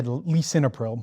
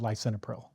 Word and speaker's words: lisinopril: Not usually say "lee-sinopril." More likely to be said "lie-sinopril."